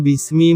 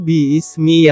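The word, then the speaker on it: بِسْمِ: Sebenarnya itu bukan bismi membacanya. Tapi bi-ismi yang benar membacanya, jika kita kaji lebih dalam.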